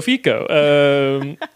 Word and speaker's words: Fico: And it makes me want to pronounce Robert Fico's name as Robert Fico, because it's like, oh yeah, this is Italian politics. He's a mafia boss. Yeah, it's Roberto Fico.